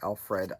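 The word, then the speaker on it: Elfreth: I think it's pronounced Elfrith or Alfred. We might have said Alfred back in the day too.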